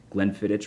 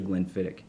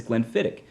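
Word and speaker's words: Glenfiddich: i a lot i hear people say uh glenn fittich a lot which is incorrect it's actually glenn fittick and you can always remember that if you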